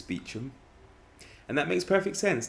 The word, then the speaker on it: Beauchamp: not correct it's chumley beauchamp or beauchamp it's not correct it's beecham and that makes perfect